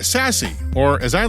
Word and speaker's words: SASE: powered by n2k the word is Sassy spelled s for secure a for access S for service and E for Edge definition a security